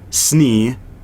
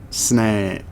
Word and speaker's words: Snne: One, the first reason was because Snee, the way I spelt it was SNNE, which is not how you say Snee. It's like, that's like sneh.